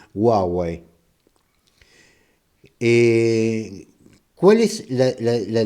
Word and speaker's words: Huawei: y la otra es Huawei o Huawei Según como le guste pronunciarlo yo pienso que lo tenemos que pronunciar en castellano le vamos a decir Huawei eh Cuál es la